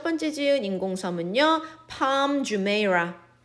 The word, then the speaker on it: Jumeirah: Palm Jumeirah. Jumeirah라고 읽어요.